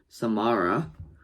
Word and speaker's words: Samara: pack AKA champo mate is Samara like Samara Morgan from The Ring that's how you that's how I pronounce it and that's how you probably pronounce it but anyway the characters